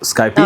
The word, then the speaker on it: Skypia: Guess Skypia, is that how you say it? Skypia is next. Yep. Skypia.